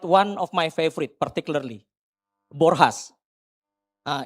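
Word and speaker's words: Borjas: Uh in our Indonesian language we call it Bourjas right Baba Ibu. Yeah. But since he's a Brazilians we pronounce his name is Borhas. So we pronounce J with H.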